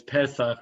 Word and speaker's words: Pesach: So the word Pesach, which we pronounce Pesach, but it's Pesach really.